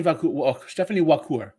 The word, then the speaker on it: Vaquer: So Stepanie Vaquer. It starts how you would say liqueur, but with a W if you wanted how to pronounce it.